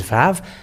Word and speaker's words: vav: And when it is Vav, it is pronounced as V in Hebrew.